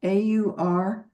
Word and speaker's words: auricular: it's AUR, like oral, AURICULAR, auricular.